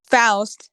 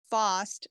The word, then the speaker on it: Faust: um just a reminder his name is pronounced faust not fost or whatever you say um and then the